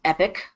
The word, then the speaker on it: EPC: the irate productivity Center the acronym is EPC which is pronounced epic this comes from them